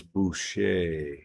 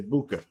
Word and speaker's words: Boucha: Kelly Bell says Boucher. That's Michael Boucher. You know, Bobby Boucher. Oh, is that how you pronounce it? Okay. Or is that his nickname because of the movie? I'm curious. Tell us in the chat. Is that his nickname? Because it sounds, the way it's spelled, I would say BOUCHA.